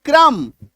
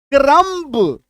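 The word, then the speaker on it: crumb: सी आर यू एमबी बी को काटिए क्रम सी एल आई एम बी बी को काट दीजिए। क्लाइंब अदरवाइज क्या पढ़ेंगे? क्लाइंब क्रमब प्लंब है ना?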